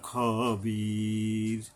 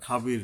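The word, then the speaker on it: خَبِيرٌ: ইন্না রব্বাহুম বিহিম বিহিম ইয়াউমাইজিল্লা খবির। খবির, এখানে যে তিন আলি পরিমাণ টাইনা থামতে হবে, খাবির নয়, খবির।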